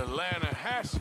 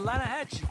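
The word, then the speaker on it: Lannahechee: You mean the Lanahatchee River? No. The Lanahatchee. It runs right near here. Yeah, but it's pronounced Lanahatchee. Why is everything in English said differently than it's written?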